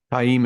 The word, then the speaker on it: Taim: I'm mostly sure that's how you're supposed to pronounce it. Taim is what it's Mazrim Taim by the glossary.